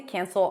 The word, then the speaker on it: cancel: It starts with a k sound, then it's the eh sound. It's technically ah, but before an n, it's smooshier. Cancel.